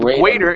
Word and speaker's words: greater: greater uh up here give me a good gr instead of Goo Gater you used a guu sound saying goo greater instead of Greater it's g g greater greater good job